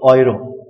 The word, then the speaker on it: Euro: We saw in the last class that EU is pronounced OI. Yes, so Euro.